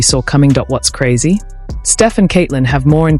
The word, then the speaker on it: Steph: When Steph Curry's Nike contract came up for renewal in 2013, the pitch was nothing short of sloppy, almost careless. One Nike executive even mispronounced his name as Stefon.